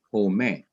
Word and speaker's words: home: and you don't say home you say home the e at the end is silent so the e at